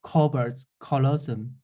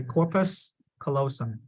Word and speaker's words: corpus callosum: good cerebrum good uh second covert colosum okay uh trying to be pronounce the past okay corpus callosum corpus callosum good yeah next one